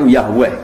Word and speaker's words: Yahweh: Wong Yahudi nyembah itu tulisan kapitale Yahweh, Y dengan huruf kapital, A dengan huruf kapital, H dengan huruf kapital, W dengan huruf kapital, E dengan huruf kapital, H dengan bacanya Yahweh.